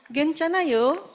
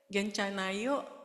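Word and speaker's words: 괜찮아요: ke halaman sebelumnya tadi Nah bacanya gencan gencana he a-nya itu kayak kalau orang Singapura itu pakai lah Oke pakai no ya begitu juga jadi bilangnya cuman genc gitu bukan guen dan juga ada a-nya ya di situ Ini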